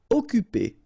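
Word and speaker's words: occuper: p is not pronounced occup you don't pronounce the Double C here so it's really like occupy okay remember when you've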